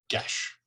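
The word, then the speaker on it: geis: Actually, technically, they speak Irish, but for the rest of the world, it's Gaelic, and they all agree that they would pronounce it gesh.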